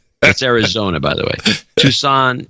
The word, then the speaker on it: Tucson: Arizona by the way Tucson Tucson Arizona that's the way it's pronounced from now on Robert Marsh 60 said